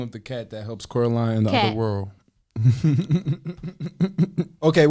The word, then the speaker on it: Coraline: What was the What was the first name for Caroline's cat? Coraline. I said Caroline in the movie.